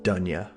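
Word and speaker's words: دنيا: But it's dunya, dunya, dunya, dunya or dunya.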